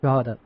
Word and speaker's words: Drogheda: I'm coming on the 14th and 15th of November to give this workshop in Ireland at how do you pronounce it again? Drogheda. Drogheda, yeah.